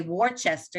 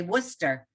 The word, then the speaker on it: Worcester: if you say westchester you don't say worchester you say worcester in massachusetts it's because and you